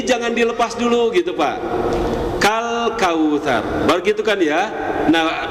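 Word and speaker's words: كَالْكَوْثَرَ: Kenapa selalu ada qalqalah di huruf lam sakinah? Itu karena kita melepas terlalu awal, melepas lidah terlalu awal, Pak, gitu ya.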